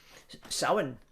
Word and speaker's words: Samhain: Then we head into Samhain. And it's pronounced Savine in Scotland. Samhain in Scotland is Savine, Samhain, same thing.